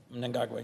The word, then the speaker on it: Mnangagwa: And you always correct me on my pronunciation, so I'm going to try my best. Mnangagwa. Mnangagwa, yes.